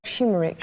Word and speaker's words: Şımarık: I have to pronounce like Şımarık.